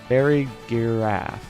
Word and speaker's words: Farigiraf: Farigiraf.